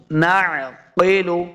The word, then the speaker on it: نعقل: کو نہیں کرنا۔ او نعقل، عین کو تلفظ کے ساتھ پڑھیں گے، قاف حروف مستعلیہ سے ہے، اس کو موٹا کرنا ہے۔ نعقل، قیلو ما کننا،